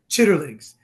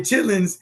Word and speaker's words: chitlins: I go, it's not pronounced chitterlings. It comes in a big red box. That's right. And you better have 2 scoops of hot sauce on your chitlins, and you could smell them a mile away.